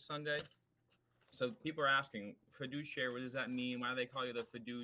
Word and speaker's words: fiduciary: It's an Okay, we got the So, first of all, I like that we have the the pronunciation fiduciary. Fiduciary. Prediary. Emphasis on the douche.